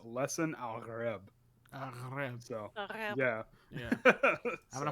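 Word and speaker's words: Lisan al-Gaib: of that word, and because it's Arabic, the G is actually pronounced as a guttural R. So this is just all theory, but based on that, it should be pronounced Lesson al-Gharib.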